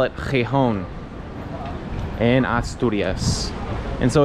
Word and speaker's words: Gijón: Now just a tip for you non-Spanish speakers, the Spanish people pronounce the city Gijón, like with an X. Gijón.